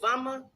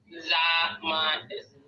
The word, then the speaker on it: Zama: And so, I don't want to mispronounce her name again because is it Vama? What is it? What's her name? Zama. It's almost like Da, but Zama.